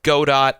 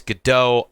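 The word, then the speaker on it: Godot: some people say it's God do and some people say it's gdau I I'm pretty sure it's gdau we're just going to go with that for this video gdau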